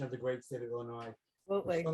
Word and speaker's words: Illinois: the great state of illinois absolutely well not sure why we don't pronounce the s at the end i'm not sure but